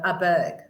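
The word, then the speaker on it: Åberg: We didn't realize that he pronounces it Aberg. Aberg. The little A, the little S thing on the top of the A is that it's an Aberg.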